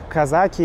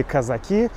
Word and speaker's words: казаки: И да, это вот те самые казаки или казаки. Кто-то говорит казаки, кто-то говорит казаки. Ударение можно ставить и так, и так.